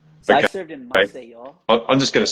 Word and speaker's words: Maceió: mission, which I didn't know Say how to that again for pronounce when I me. received it, but I know now. So I Okay. served in Maceió.